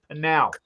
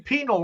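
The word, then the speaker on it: Pinal: he says oh Jack by the way it's pronounced panal I I've been saying penal all week long you know so hey Rick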